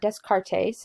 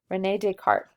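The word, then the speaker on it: René Descartes: Rene Descartes it's not desk art ace it's French so we don't pronounce the S is Rene Descartes and so he lived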